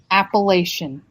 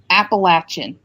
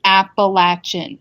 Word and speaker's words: Appalachian: listening to this uh okay it is not pronounced appellation buddy it's pronounced Appalachian okay do you understand all right say it one more time for the people in the back it's pronounced Appalachian not appellation and if you say Appalachian then